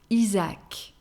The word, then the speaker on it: Isaac: shortened by iza and in masculine we have izak isa akh isaac feminine name starting with j